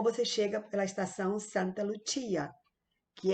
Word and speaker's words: Lucia: Mas em italiano é Lucia. Lucia, como se pronuncia a palavra, que aqui em português, uma pessoa do Brasil chamaria de Lúcia, porque é com C. Então, Lucia.